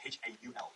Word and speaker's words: haul: The word haul, H-A-U-L, is pronounced haul.